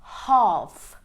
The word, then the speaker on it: half: which is silent L whenever an L comes after aou the L becomes silent for example we have half Palm folk and wood